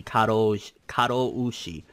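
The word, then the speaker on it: 過労死: According to reports, Mizuno passed away due to overwork, which is known as karoshi. I'm sure I'm not pronouncing that correctly. Karoushi.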